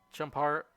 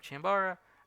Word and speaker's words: Chambara: i can show you chump that's one way to pronounce it i guess but they've chambara and then we have